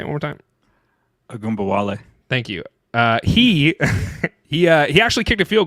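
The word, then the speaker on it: Ogunbowale: My stud of the week is Dare Ungabale. I butchered that guy's name. I butchered it. Agumbawale. Thank you, Agumbawale.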